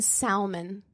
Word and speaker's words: salmon: fries no no yeah he pronounced the l in salmon that reminds me of